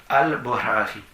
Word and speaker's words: Bukhari: Al-Bukhari. Donc B-U-K-H-A-R-I. Le K-H en arabe se prononce comme en hébreu le chet. C'est à peu près la même chose.